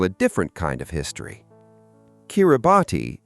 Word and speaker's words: Kiribati: Kiribati is the local pronunciation of Gilberts, after the Gilbert Islands, which were named by outsiders after a British captain.